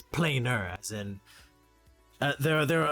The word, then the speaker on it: planar: correctly though it's not plain nor it's planar and there are there are other scientific names that use PLA and AR and it's it's not plain are it's planar exactly and that's what